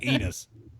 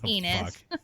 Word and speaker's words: Enos: That dude's name was Enos. I can't. Yeah. Enos. Enos. Maybe that's why he's acting out, because he's got a fucking name that rhymes with penis.